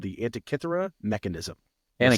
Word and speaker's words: Antikythera: You kept talking about something called the Antikythera Mechanism. Am I saying that right? Yeah. Antikythera? Yeah, I think it's Antikythera.